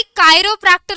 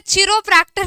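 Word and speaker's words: chiropractor: इसका प्रोनाउंसिएशन बच्चा party कायरोप्रैक्टर होता है, चिरोप्रैक्टर नहीं बोलेगा आपसे कोई.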